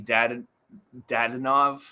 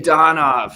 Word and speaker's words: Dadonov: The only thing that I would bet would be Dadonov to score.